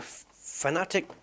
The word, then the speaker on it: Fanatec: I should be a Fanatec mechanic. Mechanic. I know it's Fanatec. I believe it's pronounced, but I always say Fanatec because I'm a fanatic of racing.